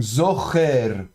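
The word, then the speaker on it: זוכר: Donc on va prononcer ça zor, hein, du fond de la gorge, enfin avec le tséré ici, donc zocher, zocher.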